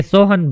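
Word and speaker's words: Samhain: تھے event of سوہن۔ اصل میں یہ سوہن بولا جاتا تھا، لیکن اس کے جو سپیلنگ بنتے ہیں انگلش میں وہ SOAMHAIN، سوہن بولنے میں سوہن ہے لیکن لکھتے میں SOAMHAIN۔ تو یہ ایونٹ تھا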